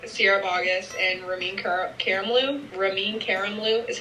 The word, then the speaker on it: Ramin Karimloo: actors and performers Sierra Boggess and ramin Karimloo ramin Karimloo is how you say his name honestly ramin Karimloo is like my crush I got celebrity crush